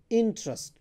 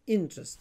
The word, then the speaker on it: interest: So it's not interest, it's interest. So this the stress is on the first syllable int, not on the second one.